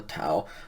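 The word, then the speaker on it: τά: Going to the neuter plurals now, again the nominative has a tau, so it's ta. It's basically pronounced the same as the singular, but it's tau alpha instead of tau omicron.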